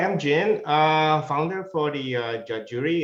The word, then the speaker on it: Judge Jury: Yeah, hi, I'm Jin, founder for the judge jury. It's pronounced like judge and jury, as in our legal system.